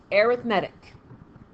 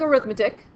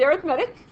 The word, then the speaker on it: arithmetic: a our i th m ET I see pronounced arithmetic it looks like arithmetic yeah but it's pronounced arithmetic so the thing is difference here I bolded